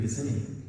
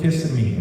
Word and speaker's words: Kissimmee: Xavier from Kissimmee. Okay. It's Kissimmee, but it's spelled Kissimmee, right? I don't know. I'd call it Kissimmee. It's got kiss in it, but it's Kissimmee. Kissimmee.